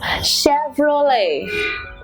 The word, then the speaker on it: Chevrolet: of this okay now the correct pronunciation is this that's it Chevrolet see the way the tongue rolls when you say roll a Chevrolet ok so it is La Vie not le T ok we have to